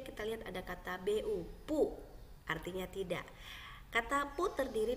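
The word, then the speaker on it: 不: Ya, huruf B bacanya P, po tadi kita lihat ya. Dan huruf U bacanya U, maka bu bacanya pu. Dalam pelafalan bahasa Indonesia ya, bacanya pu bukan bu ya.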